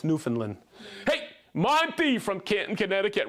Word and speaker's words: Newfoundland: Yes, because I always would hear, hey, they're from Newfoundland. No, it's Newfoundland.